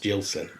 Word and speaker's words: Gillson: It is actually technically pronounced Gillson, but I sound like I'm going to say Gilson.